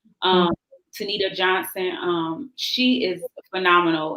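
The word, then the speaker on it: Tenita: book her name is she pronounces it tanisha johnson but it's spelled t-e-n-i-t-a um tanita johnson um she is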